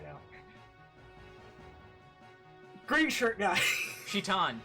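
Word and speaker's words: Citan: Shitan. Shitan. I know it's spelled Saitan, but that's a misromanization. It's meant to be Shitan.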